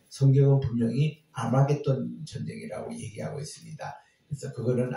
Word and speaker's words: 아마겟돈: 그 아마겟돈이 바로 머깃도입니다. 머깃도, 텔 머깃도 이거를 본래 히브리 말에서는 하르 메깃도였는데 하르의 H가 묵음이 되고 아르마겟돈 그래서 메깃도의 산, 메깃도의